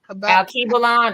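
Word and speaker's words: Alkebulan: Al Kebalon, that's one of the names. Yeah. Kibelon.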